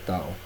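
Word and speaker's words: τ: температура на іншій час це літера D читається як Тао А це ти і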